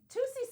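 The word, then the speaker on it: Toussie: Tusi. Tusi There's slide. like the Tusi slide.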